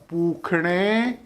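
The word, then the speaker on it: पूषणे: साल के लिए ओम पूखणे नमः। वो कहते हैं सर आपने सा लिखा है और खा बोल रहे हो। संस्कृत में षटकोण वाले सा को खा उच्चारण दिया जाता है।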